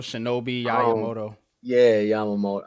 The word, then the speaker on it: Yamamoto: like the whole Yamamoto uh I think I pronounced it right yeah y shobi Yamoto yeah Yamamoto like listen man um when it comes to